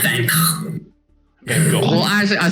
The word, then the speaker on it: Van Gogh: But and as the Doctor is like and Amy are walking back to Vincent van Gogh's sort of house or bungalow, it's a house.